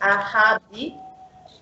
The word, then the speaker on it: ahadi: For example, let us start with A. So it's A. For example, ahadi, which means promise, and it's similar to the pronunciation of car, like in English, the car.